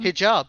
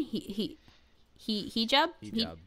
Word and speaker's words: hijab: Hijab.